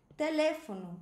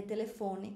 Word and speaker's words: teléfono: É uma palavra que tem uma sílaba tônica diferente no espanhol e no português.